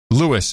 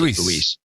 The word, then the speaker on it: Luis: Louis instead of Luis. Louis. Luis. Yeah, I would pronounce it Luis. You said Louis. I said Luis.